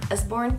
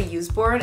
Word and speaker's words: Usborne: Usborne, did I say it right? I used to say Useborne and I looked up how to pronounce it so I wasn't embarrassed. It's the What If Monster.